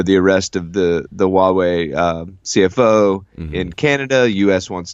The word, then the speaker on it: Huawei: and still butcher this name how do you pronounce this its Huawei Huawei okay thank you sir yeah so this Huawei